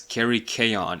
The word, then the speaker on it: Kerykeion: I had to look up how to pronounce this guy's name properly, so it's Kerykeion.